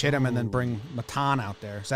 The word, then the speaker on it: Maton: Segura pinch hit him and then bring Matan out there. Is that how you say it? Maton? Maton.